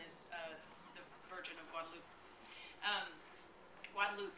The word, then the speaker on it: Guadalupe: Guadalupe, right? Is that how we pronounce it? Guadalupe. Virgen de Guadalupe is the proper pronunciation.